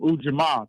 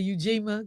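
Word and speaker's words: Ujamaa: Today's principal is um Ujama cooperative economics. Yeah, because a lot of black folks say Eugima because of the way we used to pronounce the letter uh U.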